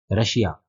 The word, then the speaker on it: Russia: Next word है RUSSIA, ये एक कंट्री का नाम है, हम सब जानते हैं, आजकल बहुत फेमस है, रशिया। इसमें भी श का उच्चारण आएगा, यहाँ डबल एस आ रहा है।